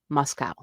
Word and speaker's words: MoSCoW: It is known as MSCW pronounced Moscow.